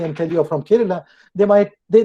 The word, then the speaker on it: Kerala: tell you are from kerala they might they they may even mispronounce it they call it karela karela is a bitter